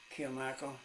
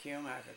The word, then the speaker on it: Kilmichael: Kilmichael. It's spelled just like it is, Kilmichael, K-I-L-M-I-C-H-A-E-L.